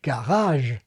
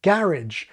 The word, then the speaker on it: garage: in the source language, like garage copying French garage, compared with the assimilated garage, which is quite common in Britain.